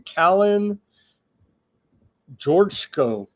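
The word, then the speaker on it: Călin Georgescu: How do you pronounce his name? Kalin Georgescu.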